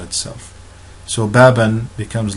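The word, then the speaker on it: باب: We do not say baba, we do not say babu, we do not say babi, we say bab.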